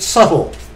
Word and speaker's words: subtle: verse subtle subtle it's spelled subtle but we pronounce it subtle go F but see the devil Satan he's